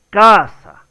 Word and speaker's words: casa: La pronunciación correcta es casa. Entonces es la primera sílaba la que lleva la mayor fuerza de voz y es la sílaba tónica.